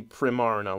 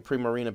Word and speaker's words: Primarina: It's got to be Primarina, like prima donna Marina. Like, come on. I can understand saying Primarina because of the actual